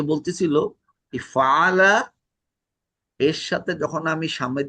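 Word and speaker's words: فعلوا: আর আলিফটা কিন্তু আমরা ওটা বলছিলাম, এই যে আলিফটা, এটা কিন্তু হচ্ছে এটা কোনো উচ্চারণ হবে না, কিন্তু এটা থাকে, এটাকে কিন্তু আলিফ অফ কি যেন বলছিলাম, দীপু থাকলে বলতে ভালো হইতো।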